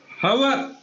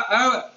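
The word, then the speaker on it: hour: छठा एग्जाम्पल देखिए आप, खालिस्तान हवर। अपन बोलने की भाषा में तो इसको हवर बोलते हैं, लेकिन इसका वास्तविक प्रोनाउंसिएशन जो होता है वो ए साउंड से होता है, अवर। तो अवर के हिसाब से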